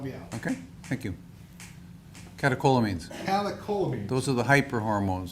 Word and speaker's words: Catecholamines: The CEW allegedly causes great pain, and this led to increased caliomines. How do you say that? Maybe you can help me out. Okay, thank you. Catecholamines.